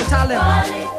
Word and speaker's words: Talib: Say Talib or Talib. If it's hard, try spelling it phonetically.